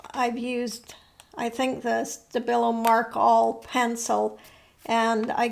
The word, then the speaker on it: Stabilo: This one again is on deli paper, and I've used, I think, the Stabilo Mark All pencil, and I got it wet, so it's kind of interesting.